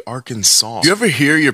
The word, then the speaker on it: Arkansas: would have made kansas why don't we just say kansas and our kansas since they're spelled the same way why do we say arkansas do you ever hear